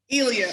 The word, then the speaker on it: Ilha: there a particular word that was hard to pronounce, is definitely one of the shortest words in Portuguese, I-L-H-A. Woo! Ilya.